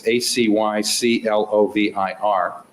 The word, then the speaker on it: acyclovir: And then regarding the medication that we talked about yesterday, that's, I'm not sure how to pronounce it, but it's ACYCLOVIR.